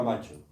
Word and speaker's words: macho: en francés era macho que es como pronuncian ellos la palabra macho ya sabéis que el francés acentúa la última sílaba 7 macho es un